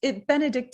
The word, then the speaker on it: Benedicte: And it's Benedicte. Am I saying it correctly? Correct.